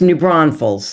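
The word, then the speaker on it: New Braunfels: Pages my uh last question you're from the new brunfels uh correct me if I mispronounced the name of your hometown oh it's new brunfels it's it's and it's not where I I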